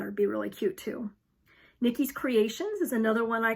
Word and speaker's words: Nikyys: It's Nikki's, and it's spelled Nikyys.